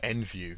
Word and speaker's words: NVU: It also goes by the name of NVU, or NView if you want to pronounce it that way.